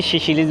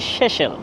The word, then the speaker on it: Seychelles: সেশেলসের রাজধানী অনেকে শিশিলিজ বলে যদি উচ্চারণ হবে শেষেল।